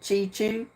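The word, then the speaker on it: Cheechoo: cre Indians Jonathan chichu it's spelled c h e e c h o o so I guess that's the way you pronounce it chichu so we'll just throw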